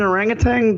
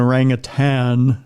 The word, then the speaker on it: orangutan: now it's orangutans uh like did in orangutang just stand up and go oh I'm sorry Mr human you're pronouncing our name wrong there's no tang in rang ofan excuse me it was